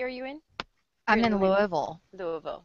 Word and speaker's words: Louisville: no you're doing fine it's Lou ofal Lou Louisville or Louisville yeah Lou ofal gotta say it right okay you know what